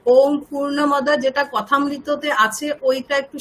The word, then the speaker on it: পূর্ণমদঃ: ওম একটা একটা করে নিন, আর সবসময় দেখবেন বিসর্গ আছে, তার পাশে প আছে যেহেতু, তো বিসর্গের উচ্চারণ কেমন হবে? হালকা ফ, হাফ ফ, ফ শোনাবে। পূর্ণমদঃ পূর্ণমিদং পূর্ণাৎ পূর্ণমুদচ্যতে, বলুন পূর্ণমদঃ পূর্ণমিদং পূর্ণাৎ।